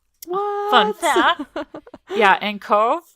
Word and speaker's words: Cobh: Yeah, and Cove in Ireland is spelled Cobh.